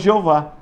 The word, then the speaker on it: Jeová: Daí surgiu a pronúncia Jeová, que na nossa língua nós falamos Jeová.